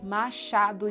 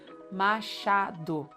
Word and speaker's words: Machado: And Machado de Assis. I wanted to get to this. Machado, with CH. Machado de Assis. I've heard so many times people say Machado. Come on, Machado, not so hard.